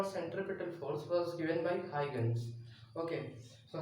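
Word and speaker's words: Huygens: that instead of hydrogens hydrogens i have said eugene's so that is a wrong pronunciation for the name the formula for centripetal force was given by high guns okay so hygiene was the name not huge okay so so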